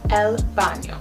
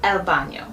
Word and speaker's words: baño: The word for bathroom is baño, el baño. The N has a tilde over it, el baño.